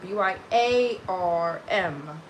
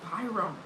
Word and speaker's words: Byarm: But yeah, my last name is spelled B Y A R M. Everyone says Byum, but it's by Arm.